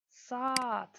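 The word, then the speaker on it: saat: урок урок сат Ката Саат друзья долгое Да произносим долго Саат урок Саат Ката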